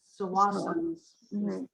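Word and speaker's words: Tsawwassen: Yeah, many people pronounce it with the T, but Yeah. it's Sawassan is the Mhm.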